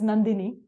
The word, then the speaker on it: Nandini: was very uh so my name is nandini which for me it sounds really nice it's three syllables but somehow you know